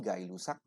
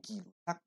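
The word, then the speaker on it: Gay-Lussac: kita mau membahas tentang hukum gay rusak ya bacanya yang seharusnya benar adalah hukum gila dan hipotesis avogadro kita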